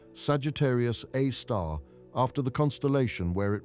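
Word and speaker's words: Sagittarius A*: They named it Sagittarius A star pronounced Sagittarius A star after the constellation where it resides.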